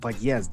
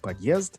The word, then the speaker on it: подъезд: I learned to put the stress on the second syllable and to pronounce the O more like an A.